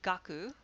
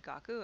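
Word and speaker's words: 楽: example this character here which is read gaku or can be read gaku amongst other readings and originally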